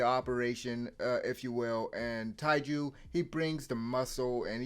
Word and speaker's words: Taiju: Senku has been preparing all this time for Taiji, for Taiju. Apologies, I just realized I was mispronouncing his name. Taiju, while surviving on his own for months, right?